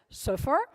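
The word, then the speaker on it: صفر: You go to your grammar, and instead of having 0 to 9, you can just have the Arabic number for 0, interestingly enough, is pronounced as suffer, which says something about us building things.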